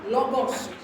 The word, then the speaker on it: logos: terribly terribly difficult H logos it sounds like the word logic we just have half of the word logic is in there is it logical let